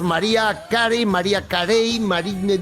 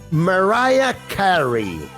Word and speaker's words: Mariah Carey: Bueno, aquí decimos María Carey, decimos Mariah Carey, decimos... La pronunciación correcta de su nombre es Mariah Carey, ¿vale?